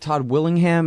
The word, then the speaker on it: Todd Willingham: Well, and on your site you talk about, is it Todd Willingham? Is that how you say it? Yes.